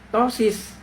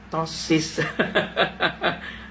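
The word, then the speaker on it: ptosis: Gimana coba kalau seperti ini kan si topi yang buka-buka yang mengatakan bahwa Gibran itu tosis ya. Ejaannya sih petosis ya. turisannya petosis tapi ejaannya tosis ya.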